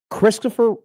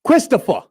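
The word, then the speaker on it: Kristoffer: Christopher, you kind of say it like Tony Soprano says it. Christopher.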